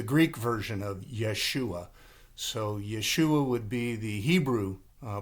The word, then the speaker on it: Yeshua: Uh his his name in Hebrew is Yeshua, which is the same name of Jesus. Jesus is the Greek version of Yeshua. So Yeshua would be the Hebrew uh pronunciation of his name.